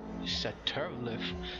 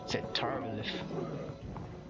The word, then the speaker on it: Satharilith: Boy, Satharilith. That's how you pronounce it. Satharilith? Satharilith.